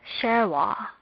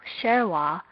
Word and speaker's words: shewa: This is shewa. This is not pronounced with a full vowel sound, but a half vowel sound, which in English is this.